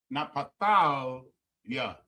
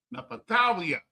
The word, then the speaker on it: Naphtali: Napatalia. Napatalia. Napatalia. Right? Is how you pronounce Naphtali.